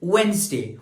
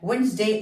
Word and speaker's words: Wednesday: The next word is वेंसडे. वेंसडे में हमारे पास जो डी है this is what? Silent letter. And Wednesday is a name of